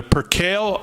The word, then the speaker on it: percale: They're percale, and I will say it correct this time so I don't get 900 emails telling me that I pronounced it wrong. Percale, I believe is how you pronounce it.